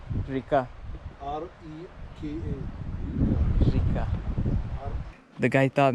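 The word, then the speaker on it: река: Rika. Rika.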